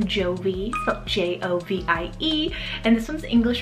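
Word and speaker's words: Jovie: here perfect for this season is the name jovi j-o-v-i-e and this one's english originated meaning cheerful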